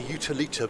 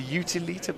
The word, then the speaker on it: Utilita: I say utilita. Okay. Like utilities.